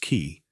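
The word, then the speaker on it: qi: The invisible vital force called key pronounced ki flowed through every living being.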